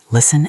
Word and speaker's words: listen: Yes, 2 magical words from our story, listen and silence. First, the word listen. Look at the spelling. L-I-S-T-E-N. There's a tall T in the middle.